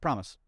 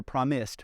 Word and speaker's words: Promise: Promise. You don't hear promised with a D.